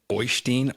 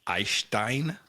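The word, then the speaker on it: Øystein: Anyway, the guy who picked him up from the train station, his name was Oystein Arseth. And I believe that it is actually pronounced Eystein. Eystein?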